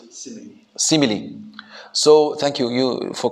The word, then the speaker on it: simile: Should we pronounce it simile?